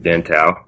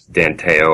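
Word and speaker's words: Dan Tao: so as you said my name is dent ow I was just saying I get called Dan tail all the time so pronunciation it's not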